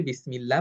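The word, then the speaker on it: بسم الله: এ কারণে আমরা এটা পাতলা করে পড়ব। বিসমিল্লাহি। আমি যদি বলি বিসমিল্লাহি এটা ভুল উচ্চারণ হবে। কারণ কারণ পূর্ববর্তী হরফের যে হরকতটা সেটা হলো জের।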